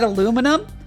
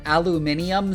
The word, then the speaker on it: aluminum: The correct pronunciation that was given by the like discoverer of the element and not the fake British pronunciation. That is because the editor of a science journal just arbitrarily decided that aluminium sounds better. The American pronunciation is the original one.